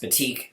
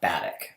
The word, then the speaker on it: batik: um that is good to know that it's pronounced batik and not batik um i actually never heard pronounced before so